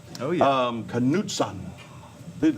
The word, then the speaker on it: Knudsen: It's Norwegian, actually. Really? Yeah, which is why I spelled it phonetically for you. Cause, Yeah. For a lot of people, it looks like Knudsen or Knudsen, so it's... How do people normally say it, like most often? Usually Knudsen, because when I Knudsen. spell it out full, it's K-N-U-D. So Okay. they see the K-N and think knife or no, and instead of knife or